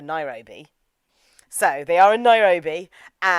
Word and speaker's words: Nairobi: And it turns out Jairobi is the Japanese pronunciation for Nairobi.